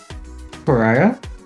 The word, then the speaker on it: pariah: Somebody is the pariah of the neighborhood, you say? Pariah? Yeah. Was that pariah? Correctly. Emphasis. Emphasis on the wrong syllable.